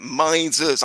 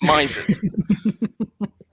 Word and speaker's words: Mises: No, it's the Mises caucus. That's how you pronounce it. Mises. I know Americans struggle with the English language, but, it's Mises.